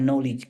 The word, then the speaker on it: knowledge: M-nya adalah math, K-nya adalah knowledge, tulisannya knowledge, dibacanya knowledge, K-nya hilang ya.